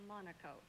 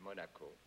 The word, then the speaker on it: Monaco: Palmaro was the consul from Monaco.